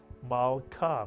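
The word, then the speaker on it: מלכה: The shva under the lamed tells you to add the lamed to the preceding letter and vowel, ma, to make the entire syllable mal.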